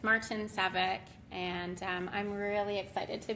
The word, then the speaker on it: Martincevic: my last name is Martina it's a very ethnic name but if you want to know how else I may pronounce it it's March and Saavik and I'm really excited